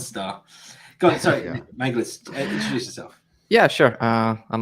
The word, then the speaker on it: Mangirdas: It's Mangirdas. Mangirdas. Mangirdas. Mangirdas. Yeah, the Danielle actually get it quite right. Nice. Cool. Danielle gets the gold star. Go on, sorry, Yeah. Mangirdas, introduce yourself.